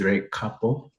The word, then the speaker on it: Recapo: So how to pronounce the name is Recapo Solar Systems.